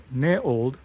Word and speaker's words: NEOLD: area and so this is a called ne ne old new and old but in they said it's pronounced NE old and so it's a private